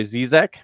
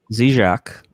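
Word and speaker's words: Žižek: philosopher named um slavoy zizek and uh jack what's that zijak yes zizek yeah that's probably the better pronunciation i think it's closed but uh and i've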